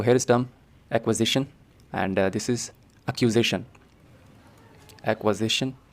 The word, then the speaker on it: acquisition: इन दोनों शब्द में बहुत ज्यादा डिफरेंस है एक्विजिशन बंता है शब्द एक्वायर से और एक्यूजेशन बंता